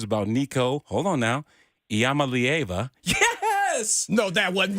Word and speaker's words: Iamaleava: How was I on the pronunciation? Was I close? 80. You were close. Not completely spot on. It was Iamaleava.